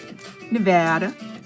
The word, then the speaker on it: Nevada: So we're based in Las Vegas, Nevada.